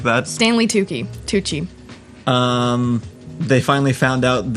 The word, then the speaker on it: Tucci: chief to how do you say his name tucci tucci yeah um they like most of the most